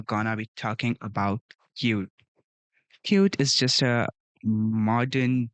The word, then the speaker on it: Qt: So cute written as Q E but it's pronounced at cute.